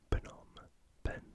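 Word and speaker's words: Phnom Penh: of Cambodia is not a silent B it's Phenom Ben as a surface area of roughly 70 000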